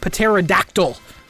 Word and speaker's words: pterodactyl: with a p h the p is silent oh whatever I'm like